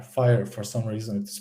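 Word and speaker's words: FHIR: of numbers and letters but uh it is pronounced fire h f i f h i r fire for some reason it is pronounced uh most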